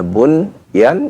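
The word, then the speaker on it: بنيان: Ya, bunyan dibaca bunyan.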